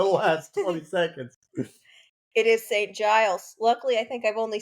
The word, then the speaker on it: St Giles: St G's um we googled it it is St Giles I have been pronouncing it wrong you you pronounced a couple things wrong in the last 20 seconds it is St Giles luckily I think I've only said it about